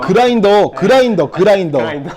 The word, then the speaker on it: 그라인더: 박승규님 글라인더는 왜 글라인더라고 하시나요? 그라인더. 그라인더. 네, 그라인더라고 하고 있는데 자꾸 발음이 그렇게 되네요. 그라인더.